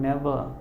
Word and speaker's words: never: Here we never, again R is silent in the word never, see you in the canteen.